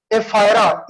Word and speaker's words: ephyra: Aurelia के larva की spelling है एफायरा, EPHYRA, EPHYRA, EPHYRULA, एफायरा या एफायरुला।